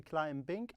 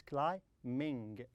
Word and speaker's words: climbing: And look at the B here. B here is silent. Don't say climbing. No, it's climbing.